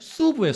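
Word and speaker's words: sub: 근데 라틴어는 어로 발음을 안 해. 그냥 발음, 단발음인데 수부예요.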